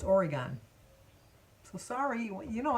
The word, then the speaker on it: Oregon: Speaking of mispronouncing names and stuff, I was told that I say Oregon wrong. It's Oregon, because they put it up phonetically for me.